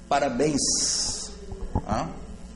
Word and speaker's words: parabéns: os finais na verdade e com ens parabéns parabéns para béns sílaba tônica acaba com n ou vintens que a